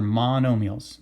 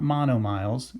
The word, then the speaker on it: monomials: Okay, so those are monomials, not monomiles. A lot of kids will try to pronounce monomile when they first see it. Monomials.